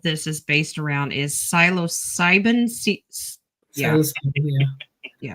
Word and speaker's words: psilocybin: So the number one thing that a lot of this is based around is psilocybin. Yeah. Yeah. Say it redneck. Psilocybe. That's psilocybe. Cubanis. We could pronounce the P. Psilocybin.